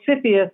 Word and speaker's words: CFIUS: you don't mind it's there's no right way to pronounce an acronym I suppose but fitness is what the government people call it it's like s it sound less intimidating that way okay many have said